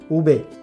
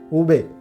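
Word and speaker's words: uve: V, pronounce not way. V we will pronounce like ube, ube. V we will pronounce ube, not way.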